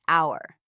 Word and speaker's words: hour: her. No, I said it's our H is silent.